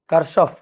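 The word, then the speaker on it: Kirchhoff: আস কার current law কারসফ কারসফস current law current law এর উচ্চারণটা হচ্ছে কিরসফ অনেক সময় কেউ কেউ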